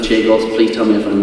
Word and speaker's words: Chagos: And I'm first of all going to disclaim this to the people here from the Chaos Islands. I think it's pronounced Chagos.